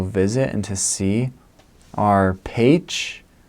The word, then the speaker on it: Pécs: people to go visit and to see are Pécs, spelled like Pecs, Kecskemét, and Békéscsaba.